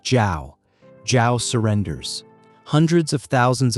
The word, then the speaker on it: Zhao: Zhao is pronounced like Zhao.